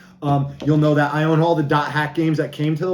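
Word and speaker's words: .hack//SIGN: know like i said dot hack you don't like mine the dashes and you say the word that's after it so this is dot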